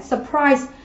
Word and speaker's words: surprise: Đầu tiên chúng ta nhìn cô giáo đáp án A này, surprise. Surprise thì đây là một động từ cho nên trọng âm theo quy tắc sẽ dành tiết thứ 2 này.